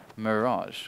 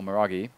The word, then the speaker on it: Mirage: It's going to be on Mirage, or Miragi, depending on whether you like to say it correctly or incorrectly.